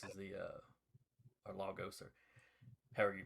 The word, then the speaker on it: Lagos: Because the name comes from like a Portuguese word for lakes, but that's not how anybody that lives in the city actually pronounces it.